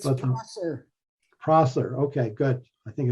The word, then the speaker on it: Prosser: Did I pronounce that right? And if I did not do it, I apologize. It's But Prosser.